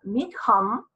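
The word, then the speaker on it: Mitcham: Mi esposo dice que se pronuncia Meacham, porque es escocés el origen del nombre, mi esposo es genetista,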